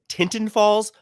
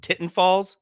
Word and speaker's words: Tinton Falls: From the Jug Handle Brewing Company out of, it should be pronounced Tinton Falls, but it's right where I live and people call it Titten Falls.